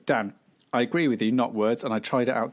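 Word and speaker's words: Knotwords: Sagrada so that's that's not words spelled with a silent k at the start yes uh k-n-o-t-w-o-r-d-s it's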